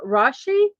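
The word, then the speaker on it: Rasche: 80 years old today David rashi rashi is actually how you say his name I'm looking here at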